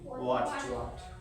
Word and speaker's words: what: WWHAT, উচ্চারণ সঠিক উচ্চারণ কি? What?